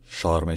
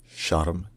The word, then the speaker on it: Sharm: SES and vibrant nightlife in Egyptian Arabic is pronounced Sharm sh is Sharm is sh sh all